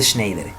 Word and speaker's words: Schneider: Se escribe S-C-H-E-N-E-I-D-E-R, membrana de Schneider.